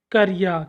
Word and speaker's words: क्रिया: जैसे हमने इसके शुद्ध उच्चारण देखा, क्रिया।